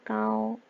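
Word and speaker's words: 高: 발음이 까오예요. 까오.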